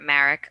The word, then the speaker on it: Merck: this recently reported from summit news vaccine manufacturer marek i believe that's how you say it has